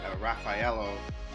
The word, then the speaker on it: Raffaello: raffle oh sorry anyway I found out I was saying it wrong I had another way but it's actually a my girlfriend told me Raffaello yeah that's